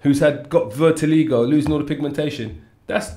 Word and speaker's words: vitiligo: Today we call it vertigo. Vertigo? Yeah, that's what we call it. Am I pronouncing it right? Vertigo. Yeah, vitiligo.